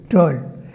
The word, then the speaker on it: Tolle: That's why Eckhart Tolle, I think. Tolle, yeah. How do you pronounce it? Tolle or Toll? Tolle.